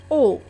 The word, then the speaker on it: aux: AUX تنطق O.